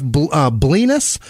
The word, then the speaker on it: Blenis: Keith Neverow, Jackie Sukup, Stephanie Igoa, Ashley Vio, Brendan Abels, Joseph Blenis, rhymes with penis, Peyton Meadows, and real